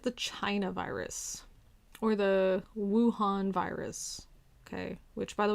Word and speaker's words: Wuhan: this calling it the china virus or the wuhan virus okay which by the way is uhan that's how you pronounce it but the the wuhan virus or